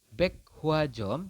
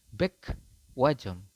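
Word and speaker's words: 백화점: Kemudian di sini ada tulisannya adalah Baek Hwajom, tetapi Anda membacanya ada Baek Wajom.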